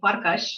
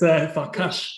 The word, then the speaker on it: Farcas: I had heard Farcas, I may not have spelt it the way it spells. Well, is, and Farcas, it's actually called Farcas. Ah, okay. It's Farcas.